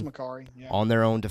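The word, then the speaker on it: Makkari: It's Makari, yeah.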